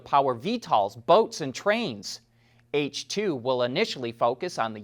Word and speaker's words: HTWO: And speaking of Hyundai, the company created a dedicated fuel cell brand called H2, and that's spelled HTWO.